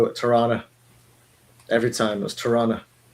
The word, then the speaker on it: Tirana: And of course, in Tirana, I guess he meets those Albanians, and they think that's the greatest thing ever.